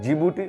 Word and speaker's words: Djibouti: जो east Africa में जीभूति उसमें दी साइलेंट राहत है बेसिकली डीसी स्टार्ट होता है लेकिन दी साइलेंट होता है इसलिए उसको जीभूति जो उसका प्रनंसीएशन आता है जीभूति आता है सो जीभूति कहां से